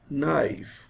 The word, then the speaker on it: knife: let us move forward k is silent in these words this word is pronounced as knife knee no knock knowledge